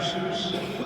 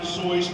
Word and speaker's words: Seuss: Seuss. It's very appropriate that it is actually pronounced Seuss because it rhymes with rejoice.